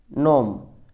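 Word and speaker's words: gnome: विधर्मी जो करता है नोम यहां पर जी साइलेंट है नोम इसकी हिंदी मीनिंग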